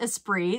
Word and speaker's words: Esprit: I found this vintage Esprit I believe it's pronounced as spree that's correct I now I only know that